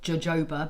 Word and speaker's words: jojoba: It's spelled jojoba, but it's actually pronounced jojoba, and just put